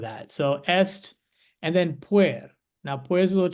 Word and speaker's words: puer: that's what I think of when I see I learned to pronounce that puer, puer. Right. and so we go puer. Oh, puer. All right, Poor that could work.